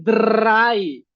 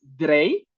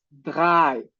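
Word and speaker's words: drei: Austria y en Suiza, la R se pronuncia. van a decir dray. En Alemania, el idioma más hablado de todo, bueno, el alemán más hablado, más extendido, se pronuncia con la garganta, por eso no es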